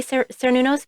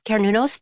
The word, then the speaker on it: Cernunnos: Ceranos, is that how you pronounce it? I know that's one of your guys, right? Some people say Cernunnos, but it's Cernunnos to me.